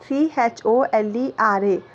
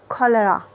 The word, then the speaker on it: cholera: And CHOLERA, cholera. We should pronounce in this way, cholera. Kha sound should come out.